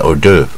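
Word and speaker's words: hors d'oeuvre: 这是 hors d'oeuvre，它念 hors d'oeuvre 啊，这因为法文嘛，h 不发音，hors d'oeuvre 啊，o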